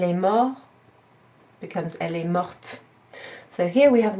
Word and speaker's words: morte: Elle est mort becomes elle est morte. So here we have an example of when the E at the end of the past participle changes not only the written form but also the pronunciation.